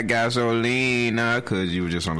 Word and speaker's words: gasolina: Just know you saying it wrong. Y'all look it up. It's gasolina.